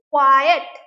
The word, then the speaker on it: quiet: Next is quiet. This has two syllables. Now আমি কি করে বলি? Quiet তো বলি না, quiet মানে almost you will have to give equal stress to both the syllables.